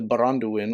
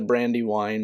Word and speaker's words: Baranduin: you up is the baranduin or brandywine brandywine is not a translation of baranduin it is a like lazy mispronunciation of baranduin uh i believe baranduin